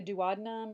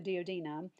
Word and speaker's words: duodenum: intestine has three sections you'll hear this PNAU pronounced in a couple different ways but you can either call it the duodenum or the dod nom or the first portion